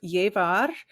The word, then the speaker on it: llevar: do we pronounce it Double L is a ya and the V is like a b as in boy sound so it's a regular